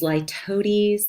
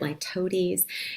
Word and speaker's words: litotes: A very specific kind of understatement is ladies. This is um that's how you say it. Lotes.